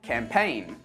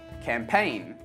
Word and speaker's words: campaign: the letter G and we don't pronounce this letter in words like campaign assign design sign rain say it after me campaign assign design rain